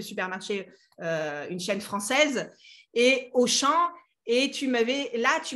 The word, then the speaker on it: Auchan: une chaîne française et au chant et tu m'avais là tu m'as donné un exemple avec auchan pourquoi on ne prenait ne va pas le prononcer haumea et la plupart des